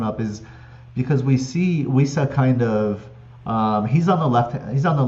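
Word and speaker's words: Wissa: He's a 6.8 million forward, and is it Wisa? Is it Visa? It's Wisa, It's yeah, with the Wisa.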